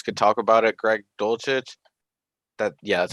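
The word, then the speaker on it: Dulcich: and someone else could talk about it greg dolcit that yeah that's how you pronounce it i just think he had a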